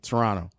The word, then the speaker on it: Toronto: when I go to Toronto or or as Stacy Dales would say Toronto. Yes. Um you can't really pronounce the T.